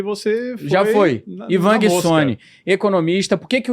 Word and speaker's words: Guissoni: Como é que é? Guissoni, tá certo? Guissoni, perfeito. Inclusive, é difícil alguém acertar de primeira e você foi... Já foi. Ivan Guissoni, economista.